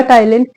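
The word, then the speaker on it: ptyalin: सलारी अमास होता है जिसको आप टाइलन भी कहते हो इसके अंदर प जो है वो आपका साइलेंट रहता है सलारी माले और एक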